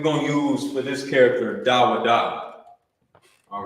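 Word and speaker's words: ד: That's actually you will pronounce that da. You will say da.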